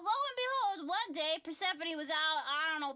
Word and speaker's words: Persephone: Okay, so Zeus and Demeter had a kid named Persephone. Sephone. It looks like Persephone.